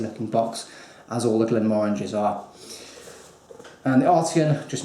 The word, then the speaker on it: Glenmorangie: It's the Glenmorangie, or Glenmorangie, as it should be said, Glenmorangie. I was corrected once by a Scotsman who said I should pronounce it Glenmorangie rather than Glenmorangie.